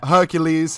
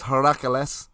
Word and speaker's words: Heracles: Is that how you pronounce that? Hippocrates? Yeah. It's apart from not a hippopotamus. Yeah. Hercules is Heracles.